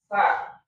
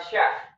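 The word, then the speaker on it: سين: tadi misalkan sin ya sa kan kita bacanya sa ya, bukan sya ya.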